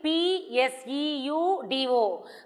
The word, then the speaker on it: pseudo: to read this pseudo spelling p s e u d o but the pronunciation is pseudo okay it is called